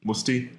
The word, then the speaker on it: Mutzi: So, Musti. Musty. Is that how you do it? I can't pronounce foreign names very well. You're doing it right. Musti.